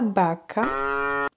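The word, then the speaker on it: vaca: même son que le B par exemple la Baca la vache ou la Baka le porte-bagage la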